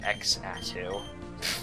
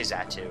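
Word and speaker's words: Xatu: or zatu um or X ATU that'd be dumb I always say zatu because I think it's the correct way to pronounce it because more often than not the x is pronounced as z um in my um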